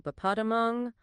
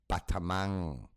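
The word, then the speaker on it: Pathamang: Sorry, I was going to correct you on the pronunciation of the 5 powders, which is Pong Batamang.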